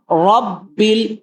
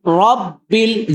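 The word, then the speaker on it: رَبِّ: রব রাব্বিল রব্বিল। জিহ্বার আগার উল্টো পাশ থেকে র উচ্চারণ হবে।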